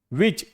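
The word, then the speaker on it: which: व्हिच डब्ल्यू एच आई सी एच व्हिच। ठीक है? एच क्या है? साइलेंट।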